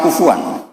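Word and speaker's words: كفوا: Harusnya qira'ah masyhurah itu walam yakul lahu kuf'an ahad bil hamzah. Dan rata-rata qira'ah sab'ah bacanya qura sab'ah bacanya walam yakul lahu kuf'an ahad. Kuf. Bukan kufu'an. Tapi orang Quraisy itu yubaddilunal hamzata wawan ba'da dhommi, sehingga kuf'an menjadi kufu'an. Maka suatu saat ini bukti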